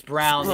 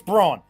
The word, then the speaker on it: Braun: It's Brown. Yeah, it's so. You know what? Dumb. All these damn people changing the pronunciation. It's Braun.